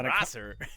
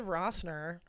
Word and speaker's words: Rosser: Rosser, Yeah, yeah, Rosser. I said Rosser? You said Rossner.